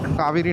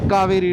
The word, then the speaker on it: Cauvery: वैसे इसको हिंदी में कावेरी कहते हैं, बट इंग्लिश में पता नहीं CAUVERY क्यों लिखते हैं, कावेरी हो जाता है वो। शायद से इनका प्रोनाउंसिएशन ही ऐसा साउथ इंडियन में होगा, कावेरी, क्योंकि हिंदी में तो कावेरी होता है KAVERI, बट यहाँ पे मैंने बहुत सारे बोर्ड्स में देखा उनका ऐसा नाम लिखा था CAUVERY, कावेरी।